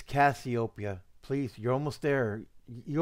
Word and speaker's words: Cassiopeia: hey it's still not you're not pronouncing it right say it like this copia do you remember the